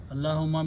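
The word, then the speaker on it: اللهم: beginning and saying you add a meme with the taste and fatah or zabar at the end and pronounce allah humma allahumma means okay same thing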